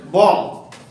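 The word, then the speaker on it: bomb: তাহলে আমরা মনে রাখতে হবে কি, বির পরে মানে এম এর পরে বি থাকলে বীর উচ্চারণ করব না।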